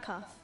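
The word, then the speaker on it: Qaf: Welcome to Mount Cough. It's got a Q, but it's pronounced cough.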